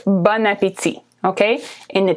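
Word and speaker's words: bon appétit: it said okay separately the words are actually bone which is good and apitzi which is appetite but when you put them together there's a liaison between the last consonant and the first vowel that's a long explanation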